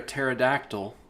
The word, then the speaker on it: pterodactyl: can't you hear a pterodactyl going to the bathroom I don't know why because of the silent p okay okay there you